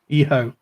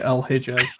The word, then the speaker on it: El Hijo: You don't pronounce the H and the J. It becomes a her sound. So, EO. EO? L-E-O. EHO. EHO. Okay. I'm still going to say El Hijo.